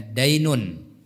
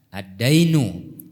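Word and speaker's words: دَيْن: Dain Dain atau addain kalau tidak pakai Alif dan lam bacanya dainun kalau pakai alif lam bacanya ad addainu artinya apa hutang dan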